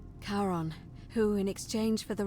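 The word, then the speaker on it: Charon: it's just as you described it, only your pronunciation is a little off. The name you heard wasn't Karen. It was C H. I knew it. O N. As in Karon, the fairyman of the dead.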